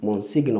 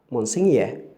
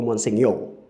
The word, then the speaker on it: Monsignor: People say Monsignor or Monsignor, but that's a wrong way of pronouncing that word. The correct pronunciation of the word is Monsignor or Monsignor.